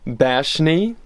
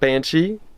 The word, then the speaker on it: Bashni: I'm embarrassed about the next one because I've been pronouncing this one wrong for 6 months. Bashni, not Banshee.